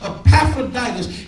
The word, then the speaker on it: Epaphroditus: That's how you pronounce it. Epaphroditus is an elder in the church.